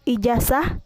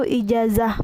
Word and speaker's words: ijazah: Yang ke-17 yaitu fonem Z diucapkan menjadi S. Contoh salahnya yaitu ijazah, yang benarnya yaitu ijazah menggunakan Z.